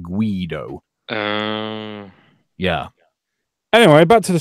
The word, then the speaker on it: Guido: wrong because I said gido he said guy though but it's actually it's a an Italian name and they pronounce it Guido yeah anyway back to